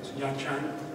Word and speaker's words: Nha Trang: And he was gone for over a year, and we weren't even sure how to pronounce the name of the place that he went to. It's Nha Trang.